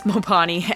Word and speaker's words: Mopani: I have looked up the pronunciation of this, and it's pretty split on whether or not the tree is referred to as Mopani also, or just Mopane, but the wood is Mopani, and it is from that tree.